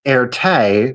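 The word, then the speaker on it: Erté: And the airte that we see that we know right is actually it is the pronunciation the phonetic pronunciation of his initials RT in French.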